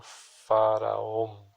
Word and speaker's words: Fa Ra Om: E ele pronuncia-se dessa maneira: Fa Ra Om.